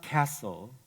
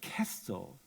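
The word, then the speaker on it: kastl: those years ago was not castle castle as he pronounced it his accent undiminished by 50 years of living in this country but Castle the Yiddish word for box which is indeed where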